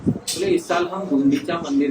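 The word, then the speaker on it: गुंडिचा: गुंडीचा नहीं है, ई बड़ी नहीं है, ई क्या है, छोटी है, गुंडीचा।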